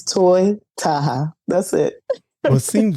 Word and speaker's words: Toy Taha: say all kinds of stuff but like it's toy Taha that's it well it seems very um self-explanatory